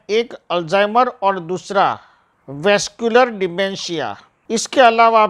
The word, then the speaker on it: dementia: सामान्य रूप से मानसिक क्षमता में आई हुई कमी को मनोभ्रंश डिमनेशिया कहते हैं, मनोभ्रंश कहते हैं। डिमेंशिया उसका सही प्रोनाउंसिएशन है, कहते हैं, जिसमें सोचने